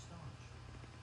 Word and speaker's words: stanch: Was said to staunch bleeding, stanch. Okay, Google, pronounce S-T-A-N-C-H. That's pronounced staunch.